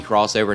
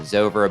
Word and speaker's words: Xover: And yes, I know it's supposed to be crossover, not Xover, but that's how it's spelled, that's how I'm saying it.